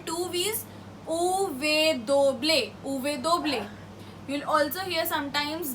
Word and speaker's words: uve doble: Uve doble. You'll also hear sometimes doble ve. Both are correct because the pronunciation varies from word to word, and also